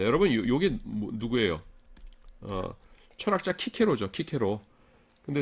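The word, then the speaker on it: Cicero: 철학자 키케로죠. 키케로. 근데 스펠링이 이렇거든요. 그렇다고 해서 이거를 시세로 이런 사람 없죠. 저기 영어권에선 가끔 그렇게 쓰기도 하는데 원래 이게 이제 하여간 C가 크 발음이에요.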